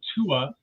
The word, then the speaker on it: Tua: want to uh share I pronounce it Tua Tua no one will ever get it right so you call me whatever you like but yeah I call myself Tua I think I mispronounced